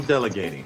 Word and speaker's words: delegating: And you're going to use that flap T. Once again, just listen for it. I'm delegating.